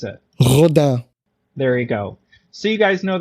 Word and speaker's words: Rodin: To me, it's Rodin, but Cal, how would you pronounce it? Rodin.